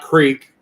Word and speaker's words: creek: just different different words I say Crick not Creek you know like the way it's pronounced from like state to state well yeah the UK